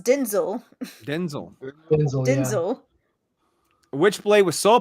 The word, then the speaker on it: Denzel: But yeah, apparently his name is pronounced Denzel.